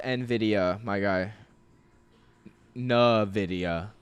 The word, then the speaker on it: Nvidia: It's pronounced Nvidia, my guy.